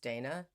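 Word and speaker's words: Dhejne: videos by Cecilia d-h-e-i-n-e I think it's pronounced Dana 2011 death records found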